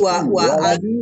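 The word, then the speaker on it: ولدي: Waladi. Yang mana? Walidi. Walidi itu artinya ayah. Ayah. Kalau ini karena tidak ada, berarti bacanya waladi.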